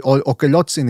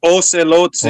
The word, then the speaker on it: Ocelotzin: By the way, I'm Mexican, I'm supposed to know this, but Okelotzin, is that a deity, or am I even pronouncing it correctly? It's Ocelotzin. Ocelotzin.